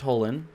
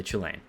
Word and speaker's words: Chulane: his chilean deck and i am aware it is pronounced holin but i prefer to say chilean this here is a